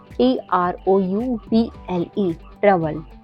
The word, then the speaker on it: trouble: जैसे YOUNG young, young में ओ के बाद यू आया हुआ है, इसलिए यहाँ पे ओ साइलेंट है। ऐसे ही और शब्द हैं जैसे TROUBLE ट्रबल, COUSIN cousin, DOUBLE डबल, डबल में भी ओ के बाद यू आया हुआ है।